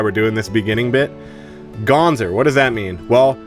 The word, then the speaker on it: g0nz3r: doing this beginning bit Ganzer what does that mean well first of all it's supposed to be gone sir but people would always call it wrong call me the name wrong so it's just a